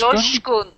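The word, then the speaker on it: Coşkun: Joshkun. Joshkun. Joshkun. Yes. Really? Why? Why? Why is it Josh if it's spelled with a? Shouldn't it be a kosh? is written. Oh, really? Turkish. In Turkish.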